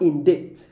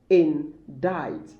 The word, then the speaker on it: indict: discombobulate you maybe okay indict not in date or indict indict in died in died so impact impact impact